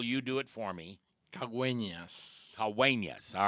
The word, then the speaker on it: Caguenas: Today I want to introduce you to a man who I can't pronounce his last name, so Daniel, you do it for me. Caguenas.